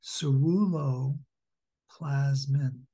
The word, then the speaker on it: ceruloplasmin: so as I understand the best pronunciation or the ideal is surulo plasmin surreal low plasma plasmin